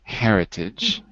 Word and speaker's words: heritage: a rule here Monica the first word in the second column Heritage ah age or no age with age I agree Heritage and where's the stress three syllables Heritage the first First Heritage cuz if it was the second it would be Heritage third it would be Heritage so you're right it's the first and there is an H well the one